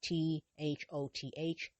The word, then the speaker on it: Thoth: was the artist of the Thoth deck, otherwise T H O T H, pronounced Thoth, the Thoth deck, which she created with Aleister Crowley.